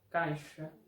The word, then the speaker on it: caixa: Por ejemplo, caixa con sonido de SH, máximo con sonido de S, exato con sonido de la Z portuguesa, táxi con sonido de XI, de KS.